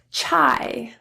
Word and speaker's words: chai: I I trast I you will really only see this in a couple words that are spelled with AI so let's take a look at some of those weird strange exception words I chai naive Samurai Shanghai let's